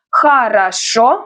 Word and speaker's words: Хорошо: Хорошо, the stress is on the last syllable.